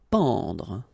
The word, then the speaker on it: pendre: Pendre. Okay, so nasal here, en, en.